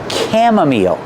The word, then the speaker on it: chamomile: And this is pronounced chamomile. That's right, the CH makes a K sound.